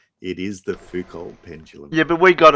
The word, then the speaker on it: Foucault: Do you want to pronounce your Yeah. own answer? It's Foucault. No. Spelled Phauxkalt. Yeah. Foucault.